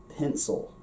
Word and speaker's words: pencil: Look at the I. Pencil. It has that If you are in an unstressed syllable, which most of the time, except in Munster Irish, the first syllable is going to get the stress. So that means that single short vowels that fall later in words are going to often become that sort of indistinct schwa sound.